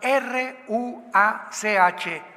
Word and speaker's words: ruach: la palabra como suena r u a c h ruach que es la palabra hebrea que significa espíritu y se pronuncia la ch en el hebreo como J ru r como J